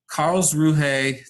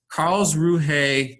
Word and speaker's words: Karlsruhe: It's called I'm going to mispronounce it because I don't know German, Karlsruhe, that's how I pronounce the name of this German city, Karlsruhe Tritium Neutrino experiment.